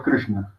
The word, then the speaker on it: Krishna: Si dijéramos, como lo dice la gente en español, Krishna sería con esta. Pero Krishna no se escribe con esta, sino con esta.